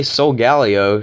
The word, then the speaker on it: Solgaleo: She's going to send out this huge, massive threat, aka Solgaleo. She told me the right pronunciation was Solgaleo.